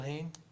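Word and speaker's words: Hoehn: the last name again I believe it's pronounced ha h o e hn Bill Hayne from Fish Creek I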